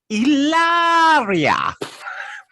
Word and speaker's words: Hilaria: her name is supposedly hilaria right which is not a real name but what we are told what i've learned is it's supposed to be pronounced illaria old one and that